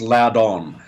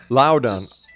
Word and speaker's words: Loudon: and global politics joining me now is luden and uh welcome to the exone well look wel thanks for having me on Rob it's actually pronounced Loudon Loudon my apologies no problem at all I can